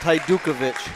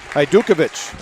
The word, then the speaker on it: Hajdukovic: It is pronounced Hajdukovic. Hajdukovic.